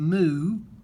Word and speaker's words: mu: here is my mean this is called a mu m u is how you say this move this is my mean